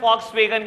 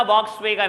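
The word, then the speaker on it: Volkswagen: इट इज a German company, और German में वी को FE प्रोनाउंस करते हैं। ऐड देख लेना, कभी नहीं बोलता वॉक्सवैगन, हमेशा बोलता है फॉक्सवैगन। फॉक्सवैगन है कंपनी का नाम, वॉक्सवैगन नहीं है बेटा, ठीक है जी।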